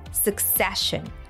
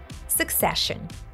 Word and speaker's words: succession: gives a sh sound the stress fall on the second syllable succession succession du uses it here